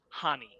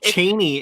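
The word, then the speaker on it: Chani: supposed to be pronounced hani uh the c is silent i learned this um she's cheney in the uh in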